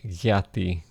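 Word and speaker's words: γιατί: Diati, it has become yati with a gamma in front. Identical type of thought, and function is just spelled and pronounced slightly differently.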